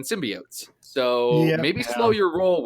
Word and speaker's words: symbiotes: no one cares because the Spider-Man animated series and literally every pronunciation of that word ever has been symbiotes.